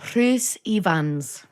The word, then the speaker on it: Rhys Ifans: Rhys Ifans.